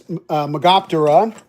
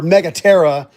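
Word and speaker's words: Megaptera: I've got a uh never never released prototype of mine that is magopa or megara is actually how you pronounce it. Uh, it means great wing, which is mega terra.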